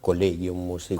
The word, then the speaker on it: Collegium Musicum: Se llama Collegium Musicum. Collegium Musicum. Y no nos queremos resignar a escuchar cuando dicen Collegium. Claro, uno tiene en general uno ve Collegium, se escribe así, Exacto. Pero la lectura es Collegium.